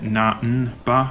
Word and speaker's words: Namba: to me as well, because there's no M sound like that in Japanese. So I don't know why they don't just write it Namba, which is how you say it in Japanese.